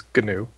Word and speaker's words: GNU: uh pretty much to a Linux geek he's going to correct you and say it's G new so I guess that